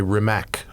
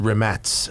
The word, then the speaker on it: Rimac: I'm driving the Rimats, which you Which might one's that? know as a Rimac, R-I-M-A-C. The electric one? Yeah, The super crazy it's one? pronounced Rimats actually, but Oh, really?